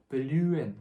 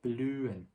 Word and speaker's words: blühen: 여기 하 소리가 blühen 이렇게 나는 게 아니라 이렇게 모음이 같이 나오고 그 다음에 바로 하가 나오게 되면은 얘는 하 소리는 묵음이 나고 모음 이렇게 소리가 나야 돼요.